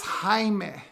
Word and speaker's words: Jaime: I'm like, okay, well at least can you say it right? It's Jaime.